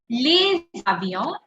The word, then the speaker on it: les avions: beginning, if you remember, whenever the second word is starting with the vowel, the previous word last letter has to be pronounced properly. Remember, we discussed this in the beginning. Whenever something is starting with a vowel in the second word, the first letter will be pronounced, the first word, last letter will be pronounced properly. So this becomes les avions.